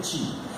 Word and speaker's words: Qi: Eles precisam ter energia para distribuir o Qi, ou Ti, melhor dizendo, porque a pronúncia mais correta é Ti.